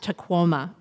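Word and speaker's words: Tahoma: the native language of chutti the mountain is pronounced taoma the puip tribes launched an effort several years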